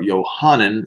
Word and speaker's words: Yohanan: I'd mentioned before that John was at once or Yohanan is how his name should be pronounced more than once well